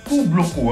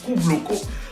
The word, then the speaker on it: Caboclo: Alors ça se prononce Caboclo, hein. J'ai dit Caboclo mais ça se prononce Caboclo.